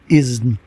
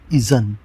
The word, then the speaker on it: اذن: آج کا لفظ اذن درست، اذن غلط. معنی اجازت. آپ نے اکثر نکاح کے موقع پہ سنا ہوگا لوگ کہتے ہیں جاؤ لڑکی سے اذن لے آؤ. یہ بالکل غلط ہے، لفظ اذن ہے.